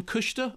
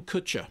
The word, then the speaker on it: Kutcher: but on the question of how do you pronounce his name kusher or Kutcher he's Ashton Kutcher and the film is complete chit